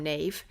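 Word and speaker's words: Niamh: that's right it's not Neeve I do love the name Neeve um but it isn't Nave I haven't got a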